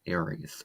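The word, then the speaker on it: Ares: It's known as Aries or A R E S. That's how it's spelled in Greek mythology.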